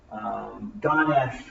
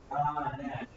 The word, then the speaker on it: Ganesh: But he was a statue of Ganesh, which is the little boy with the elephant's head, god of education and learning.